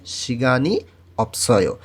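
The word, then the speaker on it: 시간이 없어요: তাহলে উচ্চারণ হবে সিগানি অপসয়, সিগানি অপসয়, এর অর্থ হচ্ছে সময় নাই।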